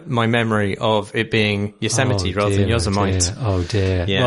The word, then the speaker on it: Yosemite: He also has a PS saying, how did none of you yell at Marsh for his bizarre pronunciation of Yosemite? I mispronounced Yosemite.